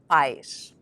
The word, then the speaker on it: pais: the word for parents, pais. To help you pronounce these, remember that pais is one syllable and that the AI sound sounds just like the letter I in English.